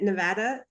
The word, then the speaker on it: Nevada: I think, first of all, you pronouncing it Nevada. I promise at least 15 people on this webinar did a big sigh of relief, and I'm sure they all appreciate that.